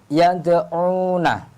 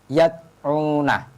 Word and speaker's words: yad'una: Contoh yad'una. Saya ulangi lagi, yad'una. Tidak boleh yad'una. Ini kurang sempurna, kurang benar.